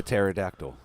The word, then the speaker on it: pterodactyl: Sumerians it's themed areas like a silent P good old silent place the pterodactyl pterodactyls Sumerians basically contacted the